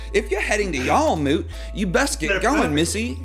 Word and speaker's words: Jarlmoot: to the north look if you're heading to jail moot or god damn i told you i was going to say it right if you're heading to y'all moot you best get going missy shout to a